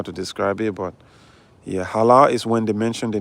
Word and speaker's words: halal: So, the word I'm pronouncing actually I say halal, but it's pronounced halal.